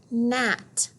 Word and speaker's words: gnat: just hear the sound G is silent when followed by n like in the word gnat you will also notice